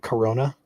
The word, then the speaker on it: Corona: This thing is hauling pronounced just like the beer. So it's like corona.